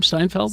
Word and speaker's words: Steinfeld: Steinfeld. Steinfeld. She's Like she's Seinfeld, but like the pickles.